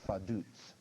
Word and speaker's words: Vaduz: Let me spell that. F-A-D-U-Z. It's pronounced Vaduz.